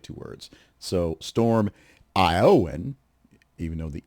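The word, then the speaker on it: Éowyn: But the pronunciation for the second part is Aowen, because it's Gaelic, I guess.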